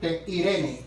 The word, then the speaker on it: Irene: tenga su Biblia cerca Cómo se escribe Irene e i r e n e acento en la segunda e Irene el Irene Irene